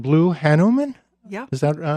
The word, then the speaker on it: Hanuman: her brand new book, just out, called Blue Hanuman. Yeah. Is that right? Good pronunciation.